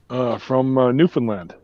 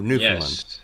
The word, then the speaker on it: Newfoundland: Schliemann is from John Schliemann from Newfoundland, actually. Oh, you mean Newfoundland? Well, That's some not call how we pronounce it, but yeah.